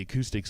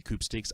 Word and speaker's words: Acoupstix: on my YouTube the acoustics will YouTube which my name is up there and it's spelled properly the P is silent but you can call me coupe steaks I don't care but